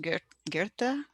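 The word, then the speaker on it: Goethe: lens of commitment and i think this gentleman's name is pronounced guerta so until one is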